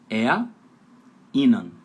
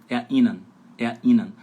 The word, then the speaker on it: erinnern: Então, erinnern. Erinnern, né? Erinnern. A sílaba tônica fica em cima da letra I e você vai falar, soletrar não, vai pronunciar primeiro as duas primeiras letras. Fica erinnern, beleza?